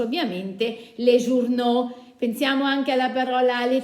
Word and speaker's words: journaux: trasformo in aux, quindi sarà le scritto les, journaux scritto, la pronuncio ovviamente les journaux.